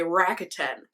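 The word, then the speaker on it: Rakuten: known as Ebates anyways they are now believe they pronounce it bracket ten i want to pronounce it as a japanese word just because it looks like one rocket in but uh that's not how they say to pronounce it they say rocket 10 i believe any case it's the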